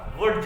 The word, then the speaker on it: Wurtz: Next अब हम चलते हैं नेक्स्ट रिएक्शन की तरफ, that is द वुड्स reaction, ठीक है। कुछ लोग इसे वर्ड्स या वुड्स जैसे पढ़ते हैं तो प्रोनाउंसिएशन थोड़ा है, इंग्लिश नेम है।